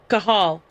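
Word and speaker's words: Cathal: Irish name. Okay, Kahal.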